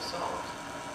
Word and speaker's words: Psalms: That leaves us with poetry, which is best represented by the book of Psalms. You'll notice it has a silent P at the beginning, unlike prophecy, which does not.